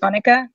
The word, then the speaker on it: Annika: of funny see ya you guys can pronounce it pretty much any way you want but it's it's Annika Annika Annika or a I do get people here in Houston who call me Anika which is kind of